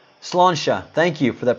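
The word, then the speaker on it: Sláinte: Slansha. Slansha. Thank you for that pronunciation.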